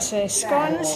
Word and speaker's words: scones: Got my black bean chocolate coffee cake, and then we've got scones here. We pronounce them scones, not scones, scones.